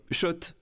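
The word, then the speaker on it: Schott: Oui, Shot. Et pas Scott, ça fait des années qu'on prononce mal la marque.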